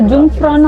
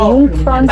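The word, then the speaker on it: Jungfrau: ஆக்சுவலா அந்த ஜும்ஃப்ரான்னு அவங்க சொல்றது இல்ல, அவங்க ஜும்ஃப்ரான்னு சொல்ல மாட்டாங்க, யூங்ஃப்ரான்னு சொல்றாங்க.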